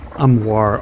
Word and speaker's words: Armoire: I don't know if I'm pronouncing that right, but I swear it's called Armoire. Armoire? I swear that's how you pronounce it.